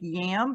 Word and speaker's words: yam: statement and the syllable is yam y-a-m like yam but it's pronounced yam and the solfeggio is 639 Hertz